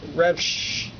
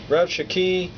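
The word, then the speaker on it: Rabshakeh: the recorder and Rika R Rak no it's e raki my Bible has pron the uh pronunciations in it so R shaki um said unto them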